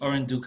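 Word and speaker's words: Orinduik: yes uh and uh just for the pronunciation it's the oran duke and canuco blocks the fiscal terms in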